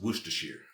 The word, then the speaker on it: Worcestershire: anything like that it's worcestershire shire is pronounced sure i'm sure that it's